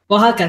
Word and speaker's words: Oaxaca: Oaxaca, thank you. I know how it's spelled, but thank you.